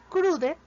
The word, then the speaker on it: crude: Para la palabra crude de nuestro término, iniciamos con un sonido más explosivo que el de una C española, seguido de una R y doble R española, pronunciado con la punta de la lengua curva hacia atrás, pero que no llega a tocar el paladar. Seguimos con un sonido más largo que el de una U española, es un poco más extendido.